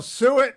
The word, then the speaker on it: suet: Well, suet rhymes with Hewitt.